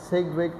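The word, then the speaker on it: Sidgwick: इनको जो है फर्स्ट टाइम सिग्विक एंड फॉरवेल इसमें डी साइलेंट है।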